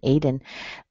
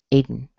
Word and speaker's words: Aiden: This happens with words that have a D and a schwa and an N at the end. Okay, so the spelling of the vowel can be an O or an E or an A, it doesn't matter. But if it's between a D and an N, you'll probably hear a schwa or Gordon, Aiden.